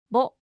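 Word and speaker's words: ボ: Ho with a dakten is pronounced bo, ho, bo, ho, bo.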